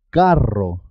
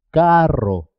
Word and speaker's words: carro: ser doble por ejemplo cuando se escribe doble dos RS siempre suena doble carro carro es importante marcar la